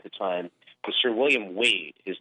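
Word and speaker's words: Waad: the tower at the time but Sir William wait his name is spelled w8 ad like WOD but it's pronounced wait so weed was there in the tower to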